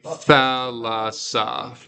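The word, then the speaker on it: θάλασσα: No, we'd say thalassa. That's 3 syllables. Yeah. So it's, both sigmas are part of the third syllable.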